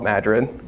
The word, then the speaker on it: Madrid: They were just going to this town called Madrid, that is spelled like Madrid, but in Iowa we call it Madrid, because we're fancy like that.